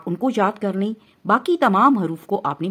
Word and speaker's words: ب: کے مطابق پڑھنا ہے، یعنی با، تا، سا، اور اردو تلفظ سے نہیں پڑھنا۔ اردو تلفظ یہ ہے بے، تے، سے، کیونکہ عربی حروف تہجی میں بڑی یہ کی آواز اے نہیں ہے بلکہ یا ہے، ٹھیک ہے، اس کا